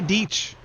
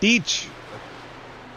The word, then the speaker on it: Deech: It's not that hard to say Deech. It was the first time. It's like beach with a D. Deech.